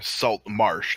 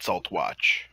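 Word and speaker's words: Saltmarsh: I said it wrong. Salt Marsh, not Saltwatch.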